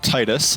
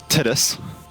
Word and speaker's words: Titus: so let's head to Titus and I do not care what you say it is Titus and not tittis or tetus I am one the